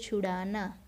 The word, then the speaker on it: छुड़ाना: अब यहाँ पे देखो, ड है वो उसके नीचे डॉट है, देखो। तो उसका उच्चारण कैसे करना है हमें, छक्के छुड़ाना, छुड़ाना, छुड़ाना नहीं, कैसे करना है, छुड़ाना।